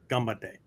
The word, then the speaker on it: ganbatte: for g-a-n-pate okay but linguistically the Japanese say gambate right the N becomes an M sound because it precedes a hard consonant the B sound okay so um both